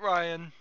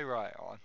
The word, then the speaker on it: Ryone: The E is silent. Not Ryan. He goes by Ryion.